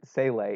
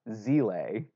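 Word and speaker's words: Seele: the English dub on Netflix they do not pronounce it sail a it's Z lay yep it's I don't care just like wait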